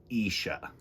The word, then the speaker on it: Isha: written and illustrated by kenisha snead this is isha you say it like isha and this is her cat who loves to